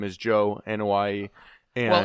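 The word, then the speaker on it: Joe Anoaʻi: off my name is joe in hawaii and well everybody pronounces that wrong including bully ray it's i don't know why that's the correct pronouncement look at that joe ana y samoan family bingo samoan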